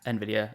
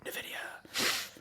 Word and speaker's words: Nvidia: through the uh Nidia Nvidia um I never I never know say Nidia or Nvidia I've always used to say Nvidia but then Americans say Nidia um Nidia so I'm